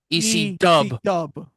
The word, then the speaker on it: ECW: would get to as ECW ECW because they were You want to know what You want to know, Bobby? You have to say it right. How the crowd says it EC Dub.